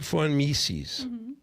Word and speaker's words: Mises: Ludwig von V-O-N Mises. Oh, I thought it started with an F. I'm already wrong. M-I-S-E-S. Von Mises. Von Mises.